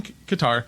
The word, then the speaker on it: Qatar: close together so you went from guitar or guitar um to alanar uh I went to I went I started in Qatar uh I went and you can say Qatar as easier way to say they'll go with yeah so you can